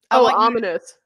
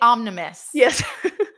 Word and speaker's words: ominous: begins with an O ominous I always say omnimusic you can pronounce frequently well you use ominous frequently is what you're saying yes and I can never say it right at least not on